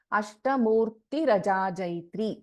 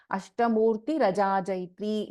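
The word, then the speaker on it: अष्टमूर्तिरजाजैत्री: Ashtamurti Rajajayatri. So we can't chant this as Ashtamurtir and Ajajayatri. It is wrong. Ashtamurti Rajajayatri is the correct pronunciation here.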